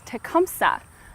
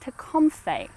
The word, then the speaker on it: Tecumseh: We always grew up knowing him as Tecumseh, and that's really the way that English speakers came to know him.